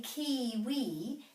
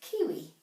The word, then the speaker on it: kiwi: a plural as well now kiwi doesn't have macrons so it's not really kiwi it's kiwi kiwi now this is the